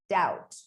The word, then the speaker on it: doubt: explanations if you make a silent letter is a letter that is left unpronounced in a word it's as simple as that such as in the word plumber plumber or doubt doubt you simply don't make the sound of that letter you just simply don't